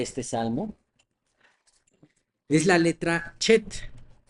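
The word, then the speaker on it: חֵית: Entonces, más bien el sonido es como si pronunciáramos esa CH de Bach, ¿no? Ese es el sonido parecido al que tiene la letra Chet.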